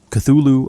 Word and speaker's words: Cthulhu: The U is about like that in full and the first syllable is not unlike cl.